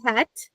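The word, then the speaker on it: חית: So for right now, it is het, okay? Het. It comes from the back of your throat.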